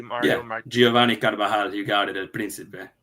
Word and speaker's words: Carvajal: Giovanni Carbajal. Am I pronouncing his name correctly, Mario? Yeah, Giovanni Carvajal, you got it, El Principe.